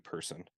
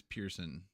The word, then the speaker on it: Pearson: I'm gonna laugh if Keaton also pronounces his last name Person. No, apparently it is Pearson because was That's the it way I would look at it, but I just thought about that.